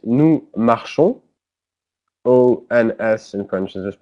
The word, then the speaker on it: marchons: Then it's nous marchons. O-N-S in French is just pronounced O. You don't pronounce the S.